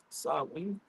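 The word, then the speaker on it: Samhain: Sam Hayne are pronounced sen.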